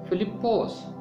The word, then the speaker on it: فلپس: فضل۔ Number 5، فلپس۔ فلپس یونانی زبان کا لفظ ہے۔ اس کا یونانی تلفظ ہے فلپوس۔ فلپوس کا مطلب ہے